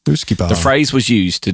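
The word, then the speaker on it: uisce beatha: So I would say that's Ooshkie or Ooshkie Beta. No, it's Ooshkie. All right. Well, it says here it's pronounced Ooshkie Bayaha. That's what it says on the website. Pronounced Ooshkie Bayaha. Ooshkie Bayaha.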